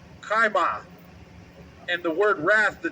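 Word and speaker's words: חֵמָה: The next word in that precept was wrath, and that is Strong's H2534, and the pronunciation, if I have that correct, is kaima.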